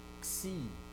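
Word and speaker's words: ξ: So sibilant, okay, it's a combination of kappa and sigma. Ks, ks, ksi, ksi.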